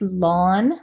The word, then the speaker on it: ln: that notation is a little bit tricky it's pronounced lon which I know doesn't maybe seem seem like